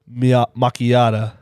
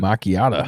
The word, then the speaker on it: macchiato: I have a coffee and in particular, or specifically a caramel mchiata. They pronounce it. Macchiato.